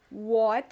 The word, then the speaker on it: what: Esse t, que é o som que a gente tem no. Não, não tem. É basicamente o som do R, né?